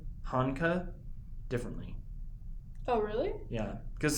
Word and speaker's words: Hanka: He said Honka as part of a sentence, and I was like, okay, that's how you pronounce it, because the Japanese dude said it that way.